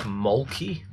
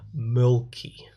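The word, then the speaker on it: Mölkky: It's pronounced very differently. Okay. And if Tattoo was here, he'd correct me on every little sort of tone of the pronunciation, but it sounds a lot like Milky. Milky.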